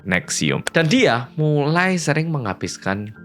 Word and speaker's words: NXIVM: Nah, di tahun itu, entah kenapa Allison itu menemukan sebuah organisasi bernama NXIVM, dibacanya Nexium.